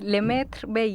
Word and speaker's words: Lemaitre Bailly: Y voy a presentar primero a Andrea, tú me dices si lo pronuncio bien, Lemaitre Bailly. ¿Puede ser? Sí, Lemaitre Bailly. Lemaitre Bailly, sí.